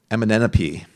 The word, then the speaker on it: Amenemope: It's the instruction of Amenemope. I always want to say like LMNOP, like the letters, but it's very close to that, but not quite. The instruction of Amenemope, which is an Egyptian